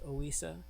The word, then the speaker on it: Ohiyesa: All right, Ohiyesa, and I believe it is pronounced Ohiyesa, and that is because I was on a Native American Museum's website, and they said that this is how it is pronounced. So I used to pronounce it differently until I had discovered that.